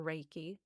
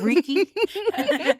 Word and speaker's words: Reiki: Or Reiki? Yeah, they don't even say it right sometimes. I'm Yeah. like, it's Reiki. Yes.